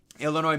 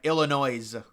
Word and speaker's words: Illinois: ] like on CBS they were like Illinois they were they were pronouncing the S I was like how